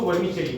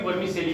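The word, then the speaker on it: vermicelli: जो ईद पे सेवइयां बनती है उसको वर्मी चेली बोलते हैं. तो ध्यान में रखना, इसको वर्मी चेली, कभी वर्मी सेली मत बोलना.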